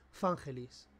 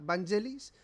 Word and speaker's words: Vangelis: de pronunciación de Héctor que dice que se pronuncia fangelis Pues yo te diría que hace unos años escuché que era vangeliss que todo el mundo decía vangelis y es vangelis vamos a decir que es